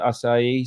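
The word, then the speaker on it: açaí: akai well pronounce acai the brazilians pronounce it acai so um and that's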